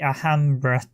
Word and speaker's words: Alhambra: I always pronounced it Alpha. It's actually Alhambra.